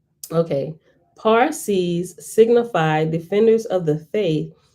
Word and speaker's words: Parsi: it looked like okay parsees signify defenders of the faith but it should be pronounced pa in such words as parcel and parachute which we have adopted